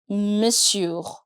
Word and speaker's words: monsieur: Let me explain the pronunciation of this word, Monsieur. We have M-O-N, but for some reason we don't pronounce that. We keep it M apostrophe S-I-E-U-R. That's how we pronounce it.